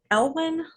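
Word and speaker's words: Elyan: And then he played Sir Elwyn on Merlin. Is that how you say it? Yes, it would be Ellen.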